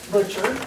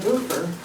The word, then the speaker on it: Butcher: My name is Butcher, and it's spelled with no T. I'm not a boofer, I'm a butcher.